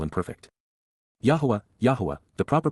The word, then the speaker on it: Yahowah: over whom he scoffs C imp perfect Yahweh yahwah the proper pronunciation of the name of eloah God as